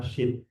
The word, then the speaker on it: Syid: Jadi ketika sudah dekat ajalnya, Nabi Adam memanggil salah satu putranya yang bernama Syid. Tulisannya S Y IT, bukan S H I.